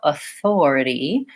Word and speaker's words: authority: to know is that my stress is going to be on the second syllable these other syllables will be short so Authority I want to make sure I'm lengthening on the Thor for many people a